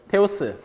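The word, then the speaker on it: Θεός: 그리스 말로 테오스라고 해가지고 이게 그 발음이 테오스.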